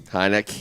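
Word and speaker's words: Heinicke: And Heineke. It's the emphasis. Emphasis on the last syllable.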